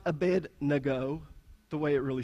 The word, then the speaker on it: Abednego: up in Cherokee County it's a bin to go right it's not a bed nago the way it really